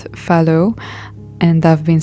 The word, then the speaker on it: phthalo: I just checked and it's pronounced phthalo, and I've been saying phthalo for a long time.